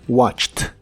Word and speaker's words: watched: En todos ellos la terminación ED se pronuncia como T. Escucha: walked, passed, stopped, laughed, fixed, washed y watched.